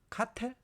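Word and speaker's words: Cattell: 자, 그다음에 이제 두 번째로는 캐틀 캐틀 캐이라고 이렇게 읽어야 될까요? 뭐 캐텔 카텔 어 헛갈리죠? 어 근데 이제 뭐 미국 사람들은 워낙에 발음을 흘려 보내니까 어 뭐 이렇게 했겠죠? 캐럴 어 근데 우리는 카텔 이렇게 읽는게 어 조금 더 어 닭살이 안 닿죠. 카텔이라고 합시다.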